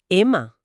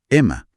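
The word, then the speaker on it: αίμα: Pero aquí leo en las notas que sangre se escribe alfa y mi alfa, pero el autor indica que se pronuncia Ema. Así es, Ema.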